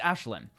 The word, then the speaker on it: Ashlyn: I know how to pronounce that name because Ashlyn. It's Ashlyn. Ashlyn, because Ashlyn was a character in Gigantic.